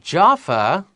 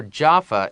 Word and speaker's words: Jaffa: The Chinese name for Jaffa is what? It's Jaffa. Jaffa. And the reason the Chinese is Jaffa is because in Hebrew, which is 希伯来文，希伯来文里 Jaffa is pronounced Jaffa.